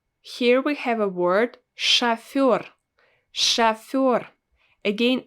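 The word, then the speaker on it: шофёр: we have a word shafir shafir again i don't pronounce o as it's written i pronounce it as a because it's not stressed chaffor so this is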